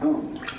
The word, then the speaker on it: Om: That sound is used because if you spell it out, A-U-M, it runs from the back of your throat to your lips. Therefore, it contains the whole range of the voice.